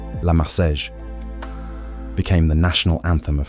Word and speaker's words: La Marseillaise: La Marseillaise, French pronunciation, La Marseillaise, became the national anthem of France.